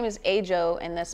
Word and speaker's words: AJO: Yeah, my name is AJO, and that's spelled A-J-O.